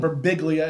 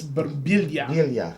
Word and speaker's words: Berbiglia: a last name berbiglia it's not verbigliya it's burbillia yes yes yes um